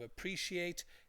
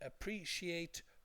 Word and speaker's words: appreciate: We also talked about the pronunciation of appreciate. It can be appreciate or appreciate. Okay.